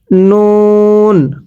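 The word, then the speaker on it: نون: এরপরে নুন। নুনটা উচ্চারণের সময় আপনার ঠোঁটগুলো একটু গোল হবে আর নুনের পেটে এরকম একটা নক্তা থাকবে।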